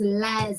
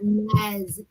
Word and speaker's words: Lyles: I keep telling you, say his name is Lyles and not Niles. It's not River Nile, this is Lyles.